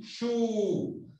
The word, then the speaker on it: shoe: La boca. Poniendo la boca en posición de U. Shoe.